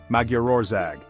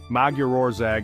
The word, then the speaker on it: Magyarország: Today we're talking about Hungary, or as the Hungarians call it, Magyarország. Now if you're wondering how on earth to pronounce that, don't worry, you're not alone. Magyarország is one of those words that looks a